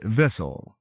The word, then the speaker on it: vicl: For example, I felt that vicl, although the true spelling, was a little boggling, hence Vissel.